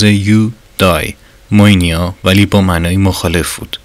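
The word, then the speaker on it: εὐδαιμονία: کلمه یونانی مورد نظر ارسطو یوداییم مونیا با تلفظ یودای موینیا ولی با معنای مخالف بود.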